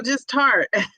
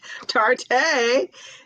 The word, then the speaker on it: Tarte: But it's pronounced like Oh, tart. Sour. Oh, just tart. I was calling it tarte.